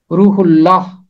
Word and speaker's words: روح اللہ: لیے استعمال ہوا ہے۔ اس کا تلفظ ہے روح اللہ، روح اللہ۔ ہے کو پیچھے حصے کے ساتھ نہیں پڑھنا، ہے نے ہمیشہ آگے جانا ہے۔ رے پیش واو روح، یہاں آ کے چھوٹا سا وقفہ کرنا ہے، رک جانا ہے اور ہے کو آگے لے کے جانا ہے۔ روح اللہ، روح اللہ، یہ ہے اس کا درست تلفظ۔ ایک اور لفظ آیا